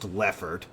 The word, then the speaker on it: Leofard: Leofard, Watch as it's actually pronounced Lefford.